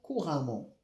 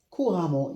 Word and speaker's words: couramment: Donc nous avons ici un adverbe he un adverbe de manière elle parle couramment le français le français f minuscule c'est la